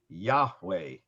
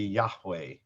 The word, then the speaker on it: Yahweh: say how the name was supposed to be pronounced they think was yahweh right which would be y-a-h-w-e-h this um this